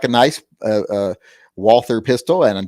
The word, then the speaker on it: Walther: uh walther pistol and don't ever call tell me it's pronounced author because we won the war so we get to determine how the alphabet is pronounced uh if they wanted to be walter they should start it with a v once they lost the